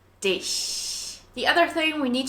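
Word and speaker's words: dich: mouth back as if we're trying to smile and Press air between the gap of your teeth just like an is and Dish the other thing we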